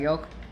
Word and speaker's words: yolk: There, you do not pronounce the L. I don't know what world he grew up in, but there's not a silent L.